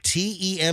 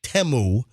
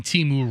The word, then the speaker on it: Temu: So, if you have the Teu app, Teu, it's pronounced Teu.